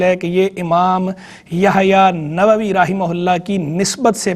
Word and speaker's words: نووی: زیادہ استعمال نووی ہے۔ لوگ غلط طور پر اسے نووی کہتے رہتے ہیں یا نووی کہتے رہتے ہیں، یہ درست تلفظ اس کا نووی ہے۔ نوا بستی تھی، اور جب نسبت اس سے استعمال کریں گے اس میں منسوب تو بنے گا نووی۔ تو امام نووی رحمہ